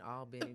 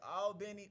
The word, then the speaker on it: Albany: I was born in Phoebe Putney Hospital in Albany, Georgia. Phoebe Putney. Albany. Yeah. It sounds like an auntie. Phoebe Putney. Phoebe Putney. Look, for Country real as hell. quick, is it Albany or Albany?